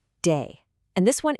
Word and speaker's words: 得: Okay, the first character is pronounced day.